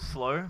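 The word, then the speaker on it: Slaux: actual performance as a collective uh we're called slow but pronounced s-l-a-u-x if you're wondering how to pronounce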